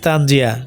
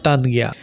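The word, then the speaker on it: Tanjia: ইট ইস তানজিয়া নট তানজিগিয়া।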